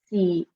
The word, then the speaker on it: siete: So we say siete, siete. So you can hear how the E, the I in English, and the E for the E in English are being pronounced very distinctly with siete.